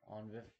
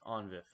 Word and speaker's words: ONVIF: On VIF? How do you say this, Papa? Onvif? You got Onvif?